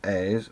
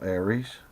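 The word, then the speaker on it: Aires: Now this is the Airs, and yes it is pronounced Airs, not Aries.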